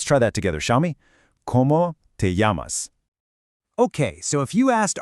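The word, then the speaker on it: llamas: That double L you see in yamas, it almost always sounds like a Y. So, it's not lamas. It's more like yamas. Let's try that together, shall we? Yamas.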